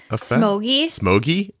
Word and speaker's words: Somogyi: floor and the one i can't pronounce somalgi smokey is that what it is yes all right let's start